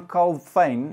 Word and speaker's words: Calvin: even at that time john colfane if that's how you pronounce his name i'm afrikans for me it's john colfane but john calvin anyway he was against